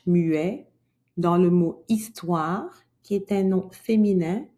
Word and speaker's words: histoire: Maintenant, un exemple avec le H muet dans le mot histoire qui est un nom féminin. Commençons donc par un H que l'on entend pas. On ne dira pas ma histoire mais plutôt mon histoire.